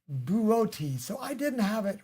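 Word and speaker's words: Boötes: to pronounce for example the constellation this is pronounced buotis not boots pop attack you're about to lead us a stray rascal it's pronounced buroti so i didn't have it right buoy should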